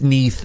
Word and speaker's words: Neath: Not only was it an N, but it's pronounced Neath as in beneath.